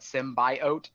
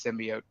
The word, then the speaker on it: symbiote: I mean the Wicker the way they pronounced symbiote they call it symbiosis symbiote and it's really annoying to hear her talk but it's like it's symbiote stop saying it wrong but another another release